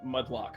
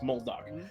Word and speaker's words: Muldock: I was for some reason I always want to say Mudlock, but it's Muldock. Whoa, it's Muldock with an L.